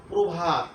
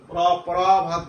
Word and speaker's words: প্রভাত: প্রভাত, আমরা কিন্তু পরাভাত বলি না, কিন্তু আমরা পরাভাত বলি না, আমরা বলি কিন্তু প্রভাত।